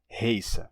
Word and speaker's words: heiße: Então, eu me chamo era ich heiße. Esse ditongo, ei, terminou se tornando ai em alemão padrão. Portanto, eles pronunciam isso hoje em dia como ich heiße, que pode ser escrito de duas formas.